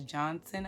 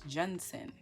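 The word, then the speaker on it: Junson: very odd last name i thought it was johnson i just thought they were pronouncing it weird but no it's jensen but mary johnson so patrice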